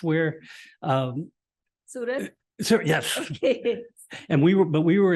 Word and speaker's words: Surat: Is that how you pronounce where? Surat?